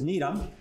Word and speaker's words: Gnetum: You don't pronounce the G, and it is from one of the very few scientific words that comes from a non-English language.